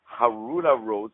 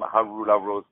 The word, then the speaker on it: Haroula Rose: Once again, ladies and gentlemen, I had on the phone today the very talented Harula Rose. So let me spell it out for you.